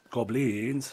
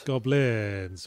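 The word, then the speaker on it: Gobliiins: And it was spelled with three I's. That's why I say it like that. Goblins? Goblins.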